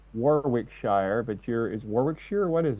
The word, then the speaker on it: Warwickshire: I would say Warwickshire, but is Warwickshire? What is it? Where are you from? Yeah, it's Warwickshire. Yeah, that's good enough. Warwickshire.